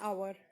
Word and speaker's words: hour: तो हम एच तो बोल ही नहीं रहे, हम हावर तो नहीं बोल रहे ना, हम क्या बोल रहे हैं, आवर। तो एच साइलेंट हो गया।